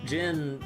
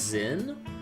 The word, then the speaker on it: Zin: Oh yeah, we gotta see how Jin sounds like, because in Daybreak when they reintroduced Jin, even though he spelled with a Z, they pronounce it like just Jin, like a, I don't know.